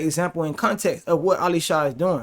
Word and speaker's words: Elisha: This is a great example in context of what Elisha is doing, right? And you can see his name say Elisha, but we say Elisha because that's how you say it.